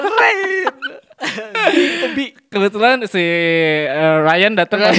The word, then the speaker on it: Rain: Rain Dibacanya jangan Rian dong. Rain.